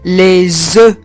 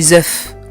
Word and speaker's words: œufs: ملي كتكون عندنا بيضة واحدة كنقولوا لها un œuf. كنطقوا هذيك اف في الاخير un œuf. ولكن ملي كيوليو بزاف ديال البيض ما كنطقش هذاك الحرف في الاخر اف، كنقول les œufs. غلط نقول les œufs، لا.